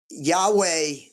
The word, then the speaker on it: Yahweh: Um, so the word Jehovah comes from, I think, a mispronunciation because the Hebrew language, from my understanding, doesn't have vowels. So Yahweh, well, Jehovah is how Yahweh was pronounced.